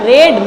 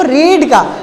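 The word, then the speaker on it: read: Same होती है, बट इसका प्रोनाउंसिएशन जो होता है बेटा रेड पढ़ा जाता है। क्या पढ़ा जाता है? रेड, हिंदी में रेड, और इसको रेड पढ़ेंगे, नॉट अ रीड, ठीक है, रीड नहीं पढ़ेंगे क्योंकि इसका थर्ड फॉर्म रेड ही होता है।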